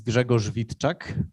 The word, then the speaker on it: Grzegorz Witczak: and and stuff yeah so my name is gregor vitchak which might be tough to to pronounce so you can just call me greg